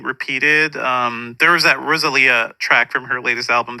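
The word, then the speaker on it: Rosalía: know know how to I always say Rosalia in my head I used to say that but it's Rosalia um no I'm the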